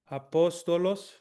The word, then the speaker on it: apostolos: The first syllable is a, the second syllable is po, the third syllable is sto, the last one is los. So it's apostolos. And the emphasis on this one is apostolos. Where's the emphasis? Po. Cool.